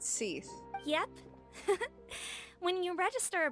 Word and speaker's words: Sigewinne: waiting for someone to pronounce her name it's pronounced SE yep when you register a brand the court